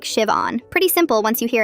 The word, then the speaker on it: Siobhan: My name is Siobhan. The H is silent. It's pronounced like Siobhan.